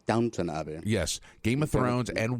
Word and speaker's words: Downton Abbey: They beat out The Crown, Downton Abbey, Game of Thrones. You said it wrong. Downton Abbey.